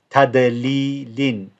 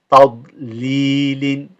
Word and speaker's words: تضليل: Here the dad, it's not pronounced as a dal. So if it was a dal, it would be tadlilin, but it's not. So you can't say tadli. So you have to hold the dad. So the way you will pronounce this word is tadlilin.